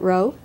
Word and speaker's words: Rowe: at about this level with Nikolas and you pronounce it ro Nikolas I have an idea that we should